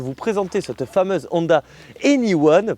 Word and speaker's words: e:Ny1: présenter cette fameuse Honda anyone parce que oui ça se prononce anyone vous allez voir il